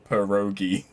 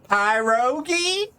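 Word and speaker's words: pierogi: perogi is basically just you ignore the ey like the it out of the p i e that it starts with just ignore the eye and it's perogi it's almost spelled phonetically although I suppose that if you didn't know that some people might be like pyrogi you want some py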